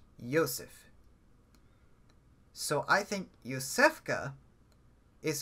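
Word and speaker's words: יוסף: Joseph, I believe in Hebrew, isn't pronounced Joseph. It's pronounced with a Y sound. It's pronounced Yosef.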